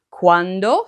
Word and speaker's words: quando: Now earlier I mentioned that the pronunciation of quando is important because if you don't pronounce that D, you could say this word, quanto. Quando for when and quanto for how much.